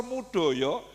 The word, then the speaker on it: Moedojo: Jadi karena tulisan beliau itu namanya kan ditulis ejaan lama M O E D O J O. Profesor Mo e D O J O Moedojo kan bacanya mudoyo.